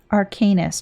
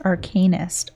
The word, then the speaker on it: Arcanist: arcaneous friend of mine arcanus narokanist Arcanist okay I've been saying it wrong all this time so long as it